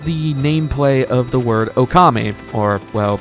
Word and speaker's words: Okami: Something interesting with the nameplay of the word Okami, or, well, if you're Japanese, it's pronounced Okame, but Okami in Japanese can mean 2 different things depending on how it's spelled.